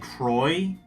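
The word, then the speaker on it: Croix: Croy. Okay, you're not supposed to pronounce the X.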